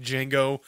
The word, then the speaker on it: Django: like making the noises the D is silent yeah okay so yeah